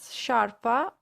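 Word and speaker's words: sciarpa: with the hard ground so scarpa something hard whereas sharpa which means scarf is something soft that you put around your neck so sharp is soft scarpa heart sharper soft if you want now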